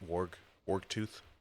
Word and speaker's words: Wargtooth: I believe that's how you say it. Wargtooth. Like a sea warg that we've been fighting this whole time.